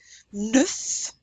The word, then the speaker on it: neuf: Neuf, neuf, that's the number 9, which we will learn shortly. You pronounce that F.